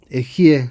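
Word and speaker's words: אהיה: Las 41 letras de este nombre, Aleph, Hei, Yud, Hei, Ejie se pronuncia, es el nombre más elevado del Dios, es como Dios se llama a sí mismo.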